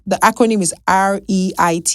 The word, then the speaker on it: REIT: It's spelled it's the acronym is reit. It's called a RIT, right?